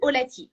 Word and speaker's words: Olati: Voilà, donc j'ai été vite déposer Olati parce que j'aime toujours le côté facile, pratique, facile à prononcer. Donc Olati, comme on l'entend. Donc Olati aujourd'hui veut dire porter en lingala.